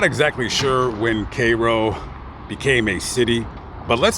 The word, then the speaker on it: Cairo: 7,000 miles away so all the residents here pronounce it Koo and if you come in here with Cairo they're going to give you the side eye